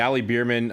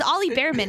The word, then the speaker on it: Ollie Bearman: It's a It's Ollie Bearman is how you're supposed to pronounce it. It's a bear.